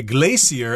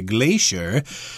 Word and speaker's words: glacier: known as a glacier I've heard people say glacier as well but we Americans say glacier and I guess this